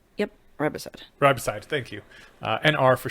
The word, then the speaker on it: riboside: that we like is, God, how do you pronounce the whole thing? Nicotinamide ribosine? Yep, riboside.